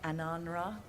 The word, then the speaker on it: Ananra: You might want to try Ananra. You just said we are doing you. I was saying it wrong all this time.